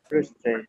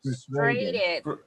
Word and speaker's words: frustrated: class because I was very I was very frustated frustrated frustrated frustrated during the session nobody helped me